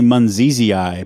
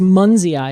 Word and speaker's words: munzii: is querkus X oh I wanted to say Mani but it's just m m it's just muns ey is how I pronounce it correct yeah okay now this is